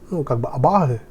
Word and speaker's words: абасы: Абагы, там по-русски должно быть либо абасы, либо абахи, но это произносится как через х, абагы.